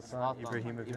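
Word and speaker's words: Zlatan Ibrahimović: Zlatan Ibrahimovic.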